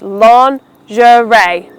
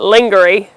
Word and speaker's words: lingerie: It refers to women's innerwear, but make sure you pronounce it as lingerie. Three syllables. The second syllable has a very unique sound. It's not a sh sound, it's a j sound.